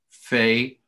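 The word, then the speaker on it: פ: peh, after, or pay, it's pronounced, it can be pronounced pay, and in, by some it's pronounced fe or fe.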